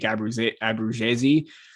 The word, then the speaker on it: Abruzzese: You already signed Nick Abruzzese. That is the correct pronunciation.